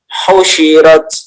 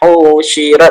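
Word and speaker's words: حُشِرَتْ: Nah, di situ tidak ada waw sukunnya. Jadi tidak perlu dipanjangkan. Maka bacanya husyirat, bukan husyirat atau husyirat.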